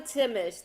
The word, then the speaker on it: Timesch: it is i know timmisch the h is silent my husband's family uh